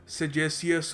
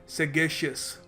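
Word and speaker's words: sagacious: मिलताजुलता लग रहा है सेजेसियस होगा यह और सेज से आता है नहीं देखिए पहली बात तो इसको प्रोनाउंस करने का सही तरीका है सेगेशियस सेगेशियस तो सेगेशियस देखिए यह यहां पर इसका कोई सेज से रिलेशन नहीं है।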